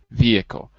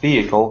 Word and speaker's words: vehicle: okay and for you is there an H or is there no h uh for me in a vehicle there's no h but it can be pronounced with with an H I guess like vehicle vehicle or vehicle vehicle yeah for me there's no h vehicle I suppose you're right